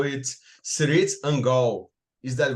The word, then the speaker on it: Cirith Ungol: Tolkien, which we did several times, there's a whole series of appendixes, and then one's on pronunciation, and you're supposed to pronounce it Cirith Ungol. Cirith.